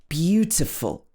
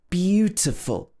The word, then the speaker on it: beautiful: So in some words, the first syllable is stressed. Beautiful, beautiful. But we don't normally say beautiful. We normally say beautiful. The other vowel sounds will become a schwa sound like beautiful, beautiful.